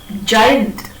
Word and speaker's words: giant: A word like giant, G-I-A-N-T, it does not contain the sound G.